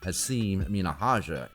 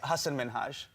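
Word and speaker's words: Hasan Minhaj: about his name he said that people always mispronounce his name even though it's an easy one he said people call him haseem minahaja and other weird versions of hassan minaj hasan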